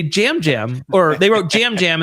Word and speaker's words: Yam Yam: I have spent a good amount of time not watching the show, watching the show, thinking about why is his name Jam Jam, but it's spelled Yam Yam.